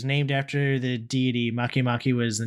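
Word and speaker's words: Makemake: oh man uh hamiya makimaki and Eris makimaki yeah spelled like it's one word but it's spelled make make sounds like they're just a mahi mahi and stuck a K in it so it sounds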